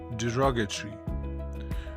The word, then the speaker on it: derogatory: today is derogatory derogatory the stress is on the second syllable so you'd say derogatory derogatory is an adjective